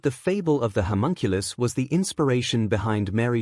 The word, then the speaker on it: homunculus: Homunculus. Wiz told Boomstick the correct pronunciation.